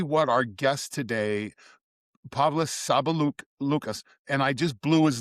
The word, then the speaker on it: Sabaliauskas: As we talked of recording, the last name is quite difficult to pronounce. It's Sabaliauskas, but Sabaliauskas.